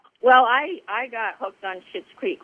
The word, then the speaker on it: Schitt's Creek: Well, I got hooked on Schitt's Creek right away, early on, and I'm so thrilled.